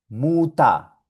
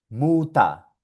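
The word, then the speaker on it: Mutter: Esto aquí se pronuncia Muta, Muta. Esto acá se pronuncia Lehrer, Lehrer. Y esto acá se pronuncia Vasa, Vasa. Suena solo como A.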